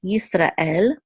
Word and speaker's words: Yisrael: here, the shiva silence, this is yis, and this is a resh with a kamatz, which says ra, and this is a tzere, and then the aleph is silent, and the lamed says la, so this is el, Yisrael, so to the tribes of Israel.